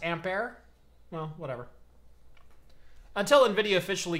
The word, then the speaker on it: Ampere: rag on you here it's not pronounced amp here it's pronounced ampair well whatever until Nvidia